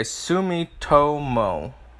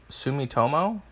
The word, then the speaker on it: Sumitomo: being really good okay Sumitomo Sumitomo that's how you pronounce the other one okay you'll blame